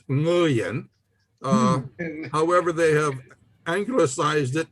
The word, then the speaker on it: Nguyen: The way I learned it was the NG sound is the last words in the pronunciation in the word sing, S-I-N-G. So it's Nguyen. However, they have anglicized it in American to just say Nguyen because most people cannot